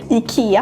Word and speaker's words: IKEA: In Sweden we say IKEA. IKEA.